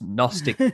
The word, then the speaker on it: Gnostic: It's kind of like all of that is literally nonsense with a G at the start, with a silent G. It's Gnostic nonsense.